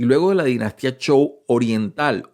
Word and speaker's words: Zhou: general es la famosa Dinastía show fíjense que se escribe sou se escribe zh ou y va a tener